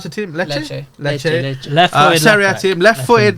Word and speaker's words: Lecce: Patrick Dogu, you know, from how do you pronounce the team? Lecce.